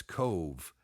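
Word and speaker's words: Cobh: But that Queenstown is really today known as Cove, and that's spelled C-O-B-H.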